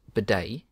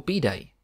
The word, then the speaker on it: bidet: originally a French word in English bidet is pronounced bidet in the United States or B Day in the United Kingdom section one history bidet